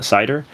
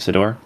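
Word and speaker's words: Ciddor: uh Cider uh Sedor, I think is actually how you say it, Sedor.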